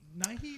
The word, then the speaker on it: Nighy: Okay, the Bill Nighy, is that how you say it?